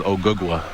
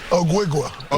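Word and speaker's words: Ogugua: My real name is Ogugwa.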